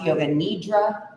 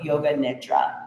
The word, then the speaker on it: yoga nidra: Uh you've heard it pronounced yoga nidra but uh the true Sanskrit is is a little i not a long i. So yoga nidra and uh nidra is